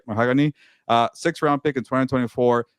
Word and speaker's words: Mahogany: It's like a color, right? Mahogany.